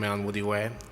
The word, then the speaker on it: Onwudiwe: And for my last name, imagine that I have a house on a hypothetical street called Woody Way. I live on Woody Way. It's pronounced just like that.